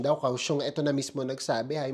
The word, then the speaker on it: Kaohsiung: Yun nga pala yung pronunciation daw. Kaohsiung, ito na mismo nagsabi.